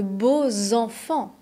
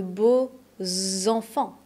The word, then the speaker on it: beaux enfants: Tu as de beaux enfants. Tu as de beaux enfants. C'est bien un X, mais on va le prononcer Z.